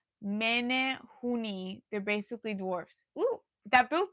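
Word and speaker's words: Menehune: In the movie, it's pronounced Oh, Juan says it's pronounced men hooni.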